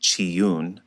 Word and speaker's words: Chiun: If we do a little digging, we can find that Reman is another name for the god Caillun, pronounced Chiune, mentioned in Amos 5:26.